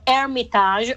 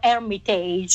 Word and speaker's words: Hermitage: Here comes your 12th album in 30 years, which is called Hermitage or Hermitage, if you pronounce it in French or English.